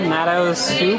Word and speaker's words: Natto Soup: Natto Soup? That's right. N-A-T-T-O-S-O-U-P. Natto like the fermented soybean food, and soup like the thing it probably doesn't taste super good in.